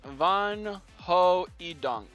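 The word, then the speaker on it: Van Hoeijdonck: Van oh dunk pronounce pier vanquidunk is pronounced in Dutch as van ho eunk van ho what van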